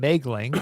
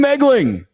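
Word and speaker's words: Moegling: Where can business athlete, where can LinkedIn Nation find you, Mouling? You can find me on LinkedIn. And actually, my last name is a funky German name. It's actually pronounced Megling, M-O-E-G.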